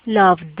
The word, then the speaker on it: loved: Loved, ¿ok? Entonces, love, pronuncio el verbo como lo pronuncio común y corriente y le agrego la D.